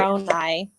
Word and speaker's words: Moroni: Moroni. Yeah. Like moron eye.